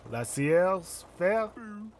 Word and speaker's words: laissez-faire: More like laissez-faire. Am I right? Laissez-faire, as it should be pronounced.